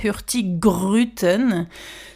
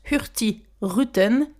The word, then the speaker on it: Hurtigruten: C'est pas hurtic gruton ? C'est deux mots ensemble. Le premier c'est hurt qui va jusque donc la lettre G mais qu'on ne prononce pas.